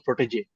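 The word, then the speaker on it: protégé: Actually, right from the beginning, I knew the word was protege. That is how the pronunciation is. It has got two diacritics on top of each of the e's. So it is something like cafe or Nescafe.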